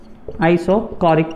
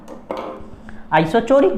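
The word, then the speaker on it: isochoric: इसको चौरिक भी बोल सकते हो, आपकी मर्जी है याद करने के लिए कि सर स्पेलिंग याद नहीं हो रही, ठीक है, चौरिक बोल दो, आइसोचोरिक बोल दो, लेकिन कोरिक है।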